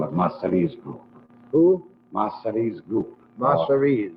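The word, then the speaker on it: Masseria: These would be in the other group, the Mazara group. Well, you always have to call it Massari's group.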